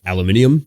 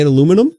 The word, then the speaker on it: aluminium: you get Forge World models that are like aluminium but uh no Peter anymore aluminium what are we in Britain well that's how you say it no you don't no you say aluminum aluminum aluminium aluminium do you keep them in